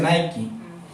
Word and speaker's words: Nike: La marca Nike y se pronuncia Nike.